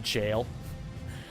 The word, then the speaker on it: gaol: spelling of jail okay can all the Elden rings enthusiasts stop telling me that gaol is pronounced jail I'm not calling it jail I'm I called it ever gaol for 150 hours of of Elden ring gameplay and I'm calling it gayol now we don't know